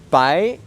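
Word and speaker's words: 白: So it's in Mandarin Chinese, Bai. So this is the second tone that is that goes upwards.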